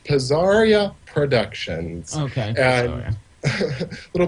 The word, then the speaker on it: Pazzaria: So the name of my company is pronounced Pazzaria Productions.